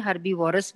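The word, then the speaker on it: herbivores: के ऊपर, और कार्निवोर्स हर्बीवोर्स एंड ओमनीवोर्स हैं. और मैं आपको ये भी बताऊं कि most of the people they pronounce it incorrectly. वो कार्निवोरस बोलते हैं, हर्बीवोरस बोलते हैं, ओमनीवोरस बोलते हैं.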